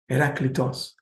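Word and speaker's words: Herakleitos: I would love to know how our Greek colleagues pronounce. Is it Heracletos? Can somebody tell us? Heracletos.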